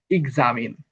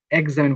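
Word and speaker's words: examine: এর পরে বাদ এসেছে এটা হবে ইজামিন এক্সামিন বলা যাবে না বলা যাবে ইজামিন 25 রলে বলা হয়েছে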